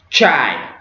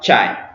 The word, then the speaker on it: çay: En anglais, c'est dit, mais cette lettre se prononce Tche en turc. Ok, donc on a Çiçek, Çanta, Çay. Ouais, c'est très simple. Donc on a Çiçek, Çanta, Çay.